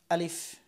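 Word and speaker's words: ألف: আলিফ উচ্চারণের সময় সব সময় এই উপরের দাঁত এখানে আনতে হবে। আলিফ, একটু খেয়াল করেন। আলিফ, এবং বাতাস থাকবে এখানে, হাত দিলে হাতে বাতাস লাগবে। আলিফ, আমার বাতাস লাগতেছে। আপনারা যদি লাগে এবং উচ্চারণটা যদি বোঝা যায় তাহলে বুঝতে পারবেন যে আপনার আলিফ হরফটি হয়ে গেছে।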